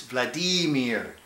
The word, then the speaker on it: Vladimir: okay it's not vladimir it's vladimir okay you got to understand the Russians when the Russians have their accident in the center of every word okay so it's Matt cat